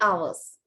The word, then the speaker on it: hours: Not hours, okay? This word is hours. අපි මේක pronounce කරන්නේ H. We don't pronounce the H.